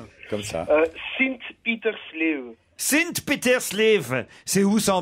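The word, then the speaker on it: Sint-Pieters-Leeuw: Comment on prononce ? Comme ça. Sint-Petersleeve.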